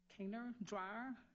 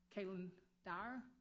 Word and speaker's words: Kaylin Dyer: Kainer Dreyer. Kaylin Dyer is how you say it?